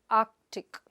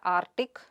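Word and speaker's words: Arctic: The next word is Ark-tuhk. You say Ark-tuhk and not Ar-tic.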